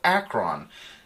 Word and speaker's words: Akron: Another one, the last film I want to recommend this week is a movie called Akron, as in Ohio. And not like some space alien? No. Or robot? No, not my fancy pronunciation.